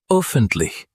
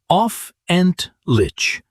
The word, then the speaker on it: öffentlich: They say offentlich, which is close. But the at the start, when mispronounced as a flat O, the word starts to sound like something else entirely.